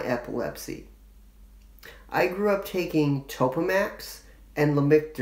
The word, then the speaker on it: Topamax: I grew up taking Topamax and Lamictal. That's what it's called and pronounced.